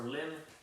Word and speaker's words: limb: letter of lib limb that b is silent just like in lamb or limb that b is silent what is a silo